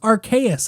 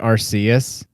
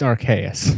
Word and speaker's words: Arceus: say it and it's archaious i've i only read it that way because i read it like it's a latin word and latin c's